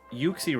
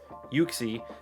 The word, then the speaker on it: Uxie: pronunciation because he invited me into uh an uxie raid so the pronunciation of today will be uxie now i looked up online i could not